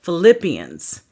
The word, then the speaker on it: Philippians: i a n s so like Philip Philippians okay now I hear